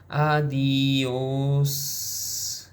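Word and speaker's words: adiós: Say it like this: Adios. Hold the S like you are walking away in slow motion with wind in your hair and no regrets.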